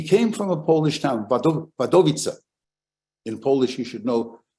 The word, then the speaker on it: Wadowice: In Polish, every word has its stress on the next to last syllable. That's why it's Warszawa or Święcim. That's the Polish word for Auschwitz. So this is Wadowice or Wadowice.